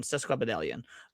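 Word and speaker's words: sesquipedalian: Cesquidelian.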